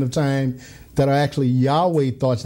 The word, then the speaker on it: Yahweh: in Hebrew y ver that we would pronounce Yahweh so it was Yahweh